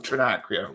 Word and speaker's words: Trinacria: Oh, also known as the somebody pronounce that. Trinacria symbol. Yes. Trinacria. Oh, Trinacria.